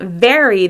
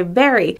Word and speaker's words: very: An example for Spanish speakers is the V sound in the word very. Sometimes people substitute the B sound, like in berry, and instead of saying very, they say very, without putting the V, putting your teeth on your lip.